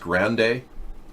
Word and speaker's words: Grande: It's pronounced Grande.